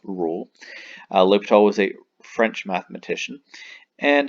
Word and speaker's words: L'Hôpital: discuss libtol's rule now sometimes you might see an s between the o and the p that is not pronounced hospital like it appears it is pronounced l'hopital's rule uh l'hopital was a french mathematician